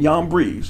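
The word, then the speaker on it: Jambres: Now, as Yanes and Yambres, and yes, that's how it is actually pronounced, withstood Moses, so do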